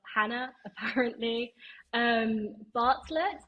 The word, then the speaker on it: Jana: place to find me my name is Hannah it is spelled with a J that's not a typo it doesn't exist in